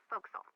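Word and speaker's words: forecastle: ship but it's pronounced Fel why is that try pronouncing it like an English sailor with no formal education Castle fil over time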